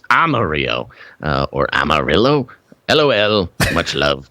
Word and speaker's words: Amarillo: His recent pronunciation from Friday of R. Mario had me rolling." I had to give you a hard time about it. It's Amarillo.